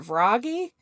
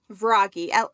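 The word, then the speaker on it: Vragi: about, um, how how do you really pronounce it? Is it varggy? Verggy. I listen to the audio book quite a bit. So, the southern in me wants to make it sound like froggy, like ribbit, like a frog.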